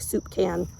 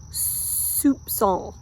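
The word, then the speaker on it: soupçon: I always laugh because I think it sounds like it looks like soup can and it's actually pronounced Soup song Soup song it means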